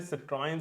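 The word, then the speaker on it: Citroën: Video में, लेकिन पहले बात कर लेते हैं सिट्रोन के बारे में। लोग इसको कैसे प्रोनाउंस करते हैं, आप कैसे पर्सनली प्रोनाउंस करते हो?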